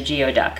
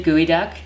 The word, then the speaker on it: geoduck: to Washington State I thought it was a geod duck which is probably how a lot of people pronounce it it's actually guoy duck and it's probably the most phallic Seafood you've